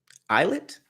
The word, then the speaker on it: islet: unnamed Island an islet how do you say it islet hmm sounds like eyelet so if you can